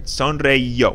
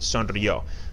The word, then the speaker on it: sonrió: This E is completely unnecessary. Sonreíó. We just want it to be pronounced sonrió.